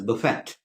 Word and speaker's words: buffet: Buffet b-u-f-f-e-t b-u-f-f-e-t b-u-l-f-e-t please do not do not pronounce it as Buffet it is neither is it buffet or Buffet it is Buffet it comes from a French word the tea is salad